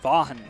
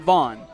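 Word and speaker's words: Vaughan: Vaughn spells his name V-A-U-G-H-A-N. Vaughn. It's a two-syllable name, not Vaughn. At least that's how I infer it.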